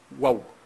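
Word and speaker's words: וו: Alors, le Zohar, il dit, et le Zohar, en araméen, hein, très souvent, le vav, on prononce waouh, waouh, pas vav, mais waouh.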